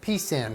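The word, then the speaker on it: pecan: pumpkin pie apple pie piece in pie yes I said piece and pie that's how you pronounce it because those are traditional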